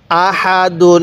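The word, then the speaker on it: أحد: পড়তে হবে হ্যাঁ বলুন হামজা জবর আ হা জবর হা দাল দুই পেশ দুন আহাদুন হ্যাঁ আরেকবার বলুন আহাদুন হ্যাঁ কিভাবে পড়বো আহাদুন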